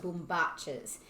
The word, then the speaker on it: bombachas: range specifically our globetrotting boom batches that's how you pronounce it it's an argentinian word i fell in love